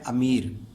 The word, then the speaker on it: امیر: پہ امیر، یعنی کہ الف کے اوپر زبر ہے، میم کے نیچے زیر ہے، آگے چھوٹی جائے اور رے ساکن، امیر.